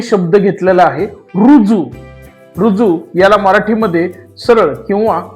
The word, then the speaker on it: ऋजु: कशा लिहितात ते बघूयात रु ऋषीतला रु आणि जू रुजू रुजू या शब्दाला इंग्लिश मध्ये